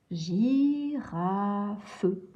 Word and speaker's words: girafe: Et donc, quand il y a le I ou le E après le G, à ce moment-là, le G se prononce J. Donc ici, on va lire je et I, J. Girafe.